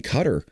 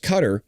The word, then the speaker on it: Qatar: Israel conducted a precision strike against senior Hamas leaders in Qatar on Tuesday. Yes, it is pronounced Qatar. A lot of people say Qatar. Both are acceptable.